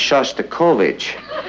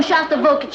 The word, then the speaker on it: Shostakovich: Honey, I think that's pronounced Shostakovich. We'd like to meet Eddie.